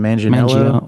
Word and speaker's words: Manganiello: How do you pronounce his last name? Manganiello. Mangio, Ma- we went in about two different directions. that guy. Manganiello, Manganiello.